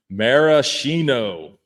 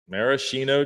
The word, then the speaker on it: maraschino: Maraschino. Maraschino cherries.